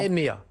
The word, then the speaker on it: hemea: Ça s'écrit donc H-E-M-E-A. Quand on le voit écrit comme ça, on ne sait pas trop comment le prononcer, mais en fait quand on voit le logo, c'est beaucoup plus simple. Vous avez rajouté un accent, mais sur le M. Exactement. EMEA.